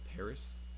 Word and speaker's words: PVRIS: them up the it's a band called Paris spelled PV r s for I think like legal reasons but um there was this